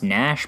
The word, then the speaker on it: Gnash: next voted in legend nash and i know it's pronounced nash but for kicks i